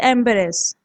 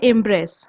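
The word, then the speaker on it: embrace: Next word is एम्बेरेस। इसे हम बोलते हैं इम्ब्रेस। ओके, ये देखने में एम्बेरेस जैसा लगता है पर यह होता है, इसका प्रोनाउंसिएशन इम्ब्रेस।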